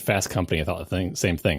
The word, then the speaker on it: Fast Company: Fast Company Top Gear it's no it's Fast Company equal equal emphasis on both syllables Top Gear the way